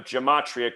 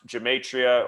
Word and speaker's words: gematria: So that's where this concept of gematria comes in, which is also pronounced gematria or gematria. There's multiple ways it's pronounced.